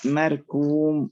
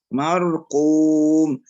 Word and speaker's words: مرقوم: الكاف قافا مثل ايه ممكن نقرأ مركوم هي مرقو وليس كو مرقوم يبقى إعطاء الحرف حقه من هو الاستعلاء والتفخيم حتى مع الجهر حتى تنطق الحرف صحيح وليس مخلوطا بحرف الكاف.